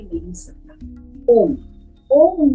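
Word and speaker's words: ॐ: अब हमें इसको अ, उ और म, लेकिन जब हम इसका उच्चारण करेंगे तो ये 4 वर्ण हो जाएंगे, 4 साउंड का मिश्रण ओम बनेगा।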